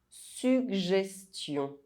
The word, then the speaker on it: suggestion: Double G followed by E, I, or Y, one of the soft vowels, is pronounced G. And it's quite rare. Suggestion.